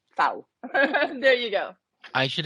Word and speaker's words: Pfau: I'm doing great, and it's actually Pfau, I'm pronounced like sorry. that's okay. That's totally fine. Now everybody knows. Just like cow, but with an F. Pfau, Pfau.